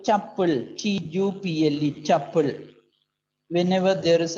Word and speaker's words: tuple: Sometimes called tuple, T-U-P-L-E, tuple.